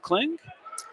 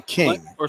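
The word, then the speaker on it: Kling: he is is it cling that is Ethan King okay or did I say it wrong is it cling you're right I apologize KL I didn't see that l in there my apologies Ethan I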